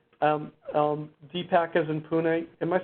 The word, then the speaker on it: Pune: to go add um um DPAC is in Pune am I saying it right Puna Puna Pune okay thanks okay I'm going to